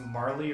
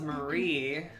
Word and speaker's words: Marle: like a sword or do you think it's pronounced Marlee or moral from the spelling that you see yeah I thought was Marie oh yeah that's not technically that's an L you know so Nate